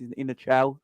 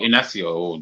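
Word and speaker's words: Inácio: I think he's pronounced in a chow, something like that. Who's he play for? Sporting Lisbon. Yeah, he's 21. Oh, Inacio.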